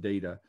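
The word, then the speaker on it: Deida: a guy named david data and uh for those of you who haven't heard of david his name is spelled d-e-i-d-a but it's pronounced data and what i learned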